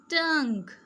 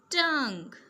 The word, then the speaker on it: tongue: g u e sounds like g. tongue Say with me. tongue league league colleague colleague dialogue dialogue, okay?